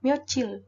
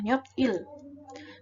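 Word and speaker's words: 며칠: hari atau tanggal namun untuk pengucapan maupun penulisan adalah nyicil bukan heptil ya kecil menikah merasakan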